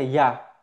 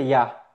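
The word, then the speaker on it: יה: Son dos letras y se pronuncia ya.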